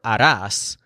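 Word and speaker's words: harás: do or you'll make if you want an extra mnemonic for a TAS imagine that Sayer comes out and tries to harass them into staying and making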